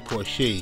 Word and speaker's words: Porche: all right let's go Bernie Jamal Porsche cre pronunciation Porsche born 1979 to Bernie Porsche Andel Harris in